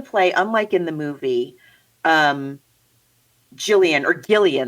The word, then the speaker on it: Gillian: And so in the play, unlike in the movie, Gillian, they say, right? It's like a hard G.